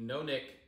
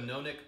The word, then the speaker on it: nonic: I call it a nonic pint, and I think that's the closest way to pronounce that to probably what was intended.